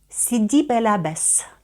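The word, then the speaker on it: Sidi Bel Abbès: але тут ми пояснимо чому ми порушили правило сібелябес сібелябес - це алжирське містечко І тому ми тут читаємо літеру с тому що слово не французьке с к кубле СК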